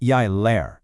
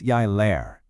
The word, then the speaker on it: lærer: That little r at the end of the verbs, it's not optional. It's not jeg lærer. It's always jeg lærer. You can see the difference here. That r is what signals you're speaking in the present tense, and it makes all the difference in sounding right.